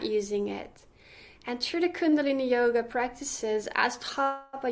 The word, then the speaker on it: Kundalini: Yes, it's called Kundalini.